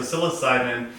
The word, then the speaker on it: psilocybin: but it's actually going to start with a p here right so psilocybin is going to be